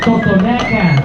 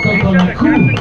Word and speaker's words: Totonaca: Fue desarrollado por una cultura llamada Totonaca o Totonacú, como lo pronuncian ellos mismos, en una pequeña ciudad llamada Papantla.